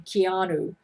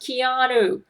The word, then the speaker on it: Keanu: By the way, Keanu hated it when Terrence Jenkins pronounced his name Keanu. He said, no, Terrence, my name is not pronounced Keanu. It's Keanu. Keanu. He says, please pronounce my name correctly.